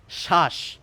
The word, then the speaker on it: শ্বাস: মতো এর উচ্চারণ হচ্ছে শ্বাস এই ব অনুচ্চারিত থাকে এবার এর আগে যদি আপনি একটি বি লাগিয়ে দিতেন তাহলে কি হতো বলুন তো?